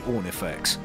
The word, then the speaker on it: Ornifex: you very much, and free Ornifex, whose name totally coincidentally rhymes with horny sex, but don't read too much into that.